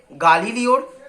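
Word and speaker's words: Galileo: প্রথম প্রশ্ন, সংক্ষেপে গালিলিওর ছাত্র জীবনের বর্ণনা করো। দেখো, গ্যালিলিও আমরা বললে কিন্তু ওটা আসল উচ্চারণ হচ্ছে গালিলিও, সেই গালিলিও আমি বলবো যে গালিলিওর ছাত্র জীবনের বর্ণনা।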